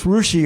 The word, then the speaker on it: Russia: he comes from now it's rushi Ohio okay it's not Russia it's spelled Russia but it's pronounced Russia it's right